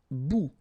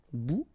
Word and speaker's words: bout: Un bout. Remember, final T not pronounced. Un bout.